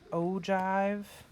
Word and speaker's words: ogive: see anything about an ogive and it's spelled that's a j sound though when you pronounce it you do not need